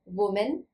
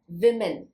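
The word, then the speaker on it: women: children एक महिला को वुमेन कई महिलाओं को विमेन यहां पर वो मेन वो मेन यहां प्लूरल फॉर्म में मेमन प्रोनंसिएशन में बोलेंगे मेमन स्पेलिंग भी चेंज है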